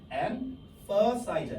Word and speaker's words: emphasize: 여기서 ph 있죠. ph가 f 발음이랑 비슷하거든요. for야, for. 그래서 emphasize, emphasize 발음이.